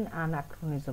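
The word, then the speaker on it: anachronism: अब एक्रो में आप एच बोलोगे तो शायद आपको च वाली साउंड याद रह जाएगी, बट इसकी प्रोनाउंसिएशन एनाक्रोनिज्म है। एनाक्रोनिज्म इसका मतलब क्या होता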